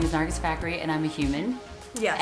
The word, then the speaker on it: Nargis Fakhri: Her name is Nargis Fakhri.